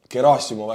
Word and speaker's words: Gerasimov: Forces of Russia Valeri gasimov or gasimov actually it's the right way to say it is dead because of